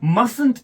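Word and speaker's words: mustn't: यहां पर आप देखिए, मस्टंट इज प्रोनाउंस क्या करना है?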